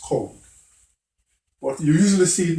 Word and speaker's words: COLD: chronic obstructive lung disease, but it's pronounced cold.